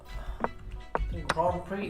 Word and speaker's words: Grand Prix: suyowak employed the sicilian grand prix or grand prix however you want to pronounce it grand prix is how it's usually pronounced but it's okay okay